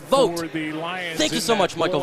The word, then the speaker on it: Vaught: Really the one Hanover, Michigan, it's pronounced Vote.